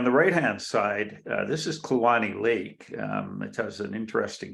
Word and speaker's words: Kluane: And I have ongoing research programs, dunes in the Fraser River and hyperpycnal flows in Kluane Lake. So that's how it's pronounced locally.